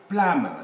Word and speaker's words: plumber: Plumber, the person fixing pipes in our home, is not a plumber. B is silent because it's preceded by M, and so on.